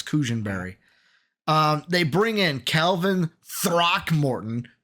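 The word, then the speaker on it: Cushenberry: No, Cushionberry. I said Cushman. Cushionberry. Yeah, I said the last name wrong. It's Cushionberry.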